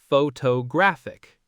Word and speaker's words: photographic: Photograph stresses the first syllable photograph but photographer stresses the second photographer and photographic stresses the third photographic.